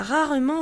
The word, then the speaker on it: rarement: Rarement, exemple, il va rarement à la piscine. Jamais, exemple, je ne sors jamais seul. Rarement, no se pronuncia la E.